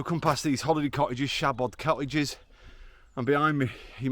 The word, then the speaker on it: Siabod: as we walk up the hill but yeah Shabad how to pronounce it first of all well it's spell s a b o d MO shabot Mo just means bare or bald in Welsh shabot is the hill so just a Bald Hill